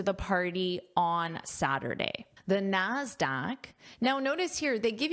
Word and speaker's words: Nasdaq: And the pronunciation of this is a k sound, Nasdaq.